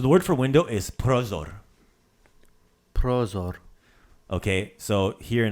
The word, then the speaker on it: prozor: So Prozor? prozor. Right? So accent that first syllable.